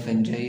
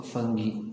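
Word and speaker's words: fungi: फंजाई इसको उर्दू में फंजाई और इंग्लिश में इसको फंगी प्रोनाउंस किया जाता है डिक्शनरी में।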